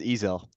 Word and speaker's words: Ezel: Uh, is it Ezel? Is that how I pronounce it? It's Ezel.